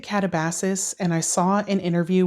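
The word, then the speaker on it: Katabasis: Next up is Catabasis or Catabasis. I pronounce it Catabasis, and I saw an interview with R.F.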